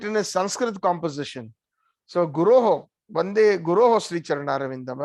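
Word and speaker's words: गुरोः: I offer my obeisances unto all those gurus. Guroho means it's plural. It is not guru. Sometimes we mispronounce when we are singing the Manga Vande Guru Sri Charnar. No, it is Guroho.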